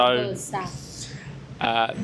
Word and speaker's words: Ibiza: a lot of the TH sounds Ibiza. are mixed with F sounds. So Ibiza. the actual correct pronunciation is Ibiza. Ibiza. Ibiza. With a THA at the end.